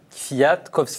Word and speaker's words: Kwiatkowski: d'être avec nous merci est-ce que je me trompe pour prononcer votre nom est-ce que c'est bien Fiat kovski c'est très bien juste oui oui ouf par